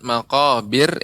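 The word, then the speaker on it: مقابر: kalau bir ibu ya pengucapan makobir ini tipis ya makobir dengan makobir nah ini tebal namun tipis makobir Wah sedang iya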